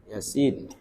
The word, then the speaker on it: Yasin: Bacanya ya Yasin.